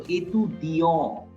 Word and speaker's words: étudiant: There is only single alphabet t. T will not be pronounced. So étudiant.